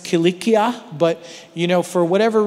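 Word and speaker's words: Cilicia: you will notice that the English language prefers a soft C Sound the S sound for that c instead of the harder C sound which is really how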